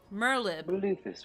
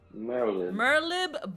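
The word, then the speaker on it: Merlwyb: um and then um merlib merlib so the w is silent merlib bluefish win we have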